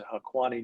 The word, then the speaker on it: Haqqani: transactions involving the Taliban, or I think it's pronounced the Haqqani network, that are authorized under general licenses, the licenses 14 and 19, which our sanctions experts will obviously know.